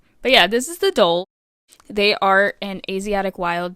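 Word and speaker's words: dhole: So, next we're going to be talking about the doll, which is spelled dehole. Get your funnies out now. Um, grow up. It's not dehole, but it is kind of funny.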